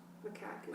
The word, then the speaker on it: macaque: Macaw is a bird. Oh. Macaw's a bird. Macaque is the monkey.